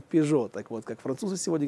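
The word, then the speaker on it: Peugeot: из четырех букв, да, когда читаем Ренаулт, произносим Рено, да, или Пижаут, произносим Пижо.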